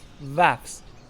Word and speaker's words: Vafs: Tên của ngôi làng được phát âm chính xác là Wafs.